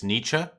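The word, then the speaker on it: Nietzsche: It's Nichzche. Na. All I knew is that there was another noise. There was another vowel noise after the ch.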